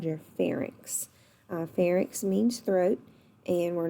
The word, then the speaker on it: pharynx: and that's called your pharynx farik's means throat and we're not going to pronounce it fair annex even though it has a why it's not pronounced like an eye and then the food